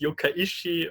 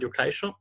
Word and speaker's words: Yokai Show: problems in Austria with the pronunciation of Yokaisho. So we had Yeah. some teachers calling it Yokaishi or something like that.